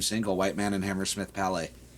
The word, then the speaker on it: Palais: Wait, you mean it's not White Man and Hammersmith Palace? I've been saying it wrong for all these years.